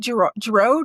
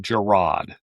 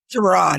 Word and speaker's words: Girod: Is it Doug Giroud? Is that how you say his name? It's Doug Girod. Girod, okay.